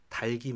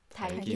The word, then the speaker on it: 닭이: 그런데 이 표준 발음법의 논리에 따르면 이 뒤에는 당연히 이제 이 형태소가 형식 형태소니까 기억이 뒤로 밀리거든요. 그래서 따라해 보세요. 닭이 맛있다. 닭이 맛있다.